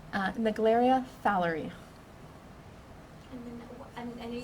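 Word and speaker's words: Naegleria fowleri: itself how to say that name uh the glaria fowlery i know you said your name could you just spell it out and give your job title oh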